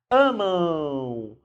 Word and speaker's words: amam: E, por incrível que pareça, quando termina em M, nós temos um ditongo nasal. Porque a gente pronuncia aqui. Amam. Então, o som, embora termine com M, o som é de U.